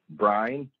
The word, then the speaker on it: Brian: saw my name differently it's actually one syllable brine real simple real easy and my gave me